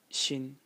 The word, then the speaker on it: 新: going to talk about a character which is pronounced Shin in the first tone and uh its meaning